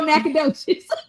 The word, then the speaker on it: Nacogdoches: Nacogdoches. All right, D, you got it. You have redeemed yourself on tonight. You don't know you live off of Fuquay, but you know Nacogdoches.